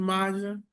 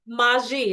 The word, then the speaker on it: Maji: So it's Maji.